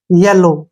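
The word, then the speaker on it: yellow: ले और ओ से ओ और डब्लू य साइलेंट रहेगा येलो क्या बन गया येलो येलो मींस पीला अब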